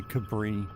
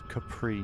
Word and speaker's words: Capri: And then I always about say Cabri, but it's Capri because there's a P, not a B.